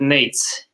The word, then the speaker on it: Nejc: your name properly uh the easiest way would be to call it nate's nate's i can do